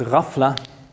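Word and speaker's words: ghafla: famously referred to as rafla the GH sound is pronounced roughly like this the French R it's a kind of um gal rla this means heedlessness forgetfulness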